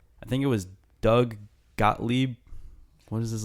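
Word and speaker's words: Gottlieb: think it was Doug gotle what is his how do you pronounce that name I think you got it right got Le he like he was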